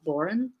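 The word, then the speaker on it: bodhrán: I get the person I learned it from pronounced it more like Boren. Oh yeah, but I'm sure they're. But I assumed it was the same thing. Yes. I'm sure there are like regional pronunciations and such, but also as an American person, so I mean. Yes, based on the film The Boys from County Clare, that's where I have gotten my pronunciation of Bowron.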